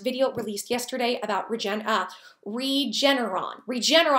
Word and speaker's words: Regeneron: Regeneron, I think is how you say it, Regeneron.